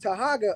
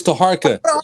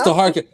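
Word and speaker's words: Taharqa: air on this show, I addressed Tahaga earlier this week about this question. It's Taharka. It's Taharka. Hey, pronounce it right.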